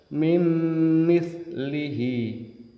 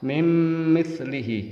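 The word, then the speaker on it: مِنْ مِثْلِهِ: bertemu mim mim mitlih tulisannya Min Mit lihi dibaca mim mitlihi tidak boleh cepat mim mitlihi karena mim tasdid juga hukumnya dengung yang huruf keempat bertemu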